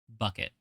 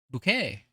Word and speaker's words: bouquet: Hi, bucket. Bouquet. It's actually supposed to be bouquet, but this is how it's spelled.